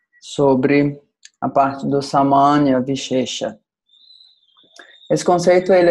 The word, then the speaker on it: viśeṣa: A outra palavra, que é a Vishesha, Vishesha. Na verdade, a pronúncia é vishesha. O primeiro é S com acento agudo, o segundo é com ponto embaixo.